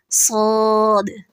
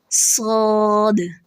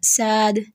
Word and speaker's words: صاد: کے ساتھ پڑھنا چاہیے، صاد صاد۔ اس میں غلطیاں کیا ہوتی ہیں؟ مخفف، مخفف یعنی ہلکا پڑھنا، یعنی صاد کو سین پڑھنا، ساد ساد ساد، ٹھیک ہے.